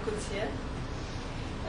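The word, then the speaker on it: Coetzee: Par exemple, les chiens dans le livre Disgrace de Coutier, j'ai appris que ça prononce comme ça, Coutier, parmi lesquels au moins un est un ange de l'Apocalypse chien.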